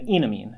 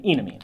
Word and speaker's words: enamine: Vowel sounds are very important in functional groups. We use a long E here. This is an enamine, as in it looks like it has an alkene and an amine attached to the same carbon. An enamine.